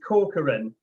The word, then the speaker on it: Corcoran: Is that how I pronounce it, Dan? It's close, it's Corcoran.